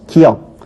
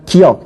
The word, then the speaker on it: 기역: 더 볼 필요가 있겠죠 기역 기억이라고 하는 친구들도 있고요 기억이라고 하는 친구도 있죠 자 디귿 디귿